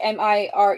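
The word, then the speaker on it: Mireh: marries her off to read of Mir it's spelled like m i r e h read of Mir a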